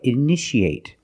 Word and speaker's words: initiate: You see T-I-A. How do we pronounce it? That's right. Shh, shh. So how do we pronounce this word? That's right. Initiate.